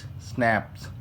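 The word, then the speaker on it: Schnapps: We have स्नैपचेस, हमारे पास स्नैपचेस हैं। ठीक है, स्नैपचेस वोकेबलरी में अगर अपन देखो, प्रोनाउंस स्नैप्स, और German drink made from grain.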